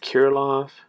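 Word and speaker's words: Kirilloff: krillif kiriloff i heard i've heard some people pronounce it kirilov i pronounce it karilif we'll see i gotta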